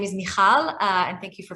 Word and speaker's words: Michal: if you did um so my name is mihal and thank you for pronouncing it so beautifully and i'm originally from